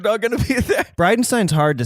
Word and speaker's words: Bridenstine: not hard to say people inevitably say like oh like bri of Frankenstein and I'm like yeah that's a great way to remember how to say it brightenstein yeah but also it's